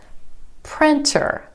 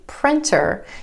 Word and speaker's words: printer: Printer. Instead of that true T, printer, you'll hear a lot of native speakers say printer.